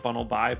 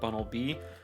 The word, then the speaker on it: Bunnelby: And in relation to Gen 6, it kind of looks like Bunnelby, which is not Bunnelby, but Bunnelby.